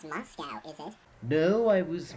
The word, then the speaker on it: Moscow: Moscow? As I said before, the last place you'd expect. By the way, there is no cow in Moscow. Oh, so it's Moscow, is it?